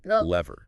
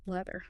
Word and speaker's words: leather: Leather contains the voiced sound sound. Your tongue must physically protrude and vibrate between your upper and lower teeth. Lever. Leather.